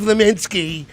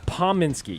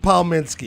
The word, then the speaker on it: Palminski: He's very good at changing Kaminsky, the name. Yes, Kaminsky. I like Kaminsky. What's the proper way to say it? Pominski. Yeah, you see, look at that. P-O-M. Come on, brother. Palminski.